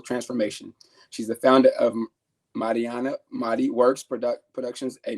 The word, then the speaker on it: Marianna: and we talked offline her name is pronounced Marana so I make sure